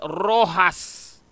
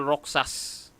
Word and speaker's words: Roxas: That's not Manuel Roxas. That's Manuel Rojas. So it seems that this narrator doesn't know how to pronounce even Latin or Spanish name. That's Manuel Rojas, not Manuel Roxas. Douglas MacArthur. Roxas sought to rebuild his nation. Again, that's not Roxas. That's Rojas.